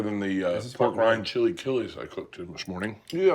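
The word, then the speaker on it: chilaquiles: the uh pork rind chili kiles I cooked this morning yeah what do you call them Chile KES mhm got I know it's close yep that's how they say it in Mexico for sure do you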